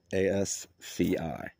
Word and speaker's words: asci: These are known as Asci, singular ascus, and ascus, I believe is how you say that, or asci. It's asci. Most asci contain 8 spores,